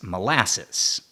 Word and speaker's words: molasses: Today we pronounce that word as molasses.